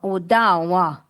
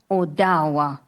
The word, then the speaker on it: Ottawa: And Ottawa Owa. That is how you say Ottawa. Oawa.